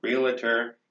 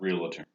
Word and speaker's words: realtor: he was also a realtor he had a lot of connections real terms and there is no second civil syllable there realtor not real attorney okay hey anyhow i'm